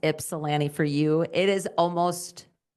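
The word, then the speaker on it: Ypsilanti: so I know that you that it's pronounced Ipsalani for you. It is almost almost almost I think by most people in North Dakota because North Dakota has one as well. Most people say yip salami with the y.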